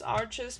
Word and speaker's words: Arches: I don't speak French, and I think most of you would pronounce the brand as Arches, but I think it's Arche because it's French, and I'm not sure